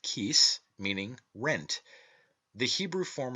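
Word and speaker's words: cíos: Such, for instance, are the Irish words ciocras, pronounced kukras, meaning hunger, and the word kis, pronounced kis, meaning rent.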